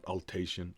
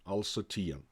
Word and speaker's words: Alsatian: For now, however, it is important to realize that he was first and foremost Alsatian. Yeah, not Alsatian, Alsatian.